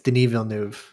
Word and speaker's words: Denis Villeneuve: you in the comments it's denis villeneuve that's how you pronounce it denis whatever dude yeah